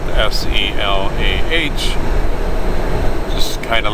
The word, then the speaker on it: Selah: So I would say technically the place I'm picking up is in Selah, which is spelled S-E-L-A-H.